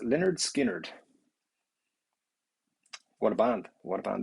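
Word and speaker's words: Lynyrd Skynyrd: unbelievable um and phil you are saying pronounced leonard skinnered what a band what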